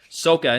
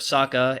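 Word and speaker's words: Sokka: may have noticed that some of the names are pronounced differently in the movie sooka instead of Saka and Ang instead of Ang that's because Shyamalan wanted the Asian names to have the correct Asian pronunciation I would actually agree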